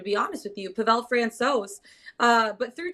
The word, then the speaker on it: Francouz: Is Francouz, how do you pronounce his last name? Francouz? Francouz.